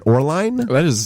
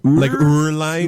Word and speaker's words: Oehrlein: It's supposed to have like an umlaut, so I think it's supposed to be like Oehrlein. Oehrlein.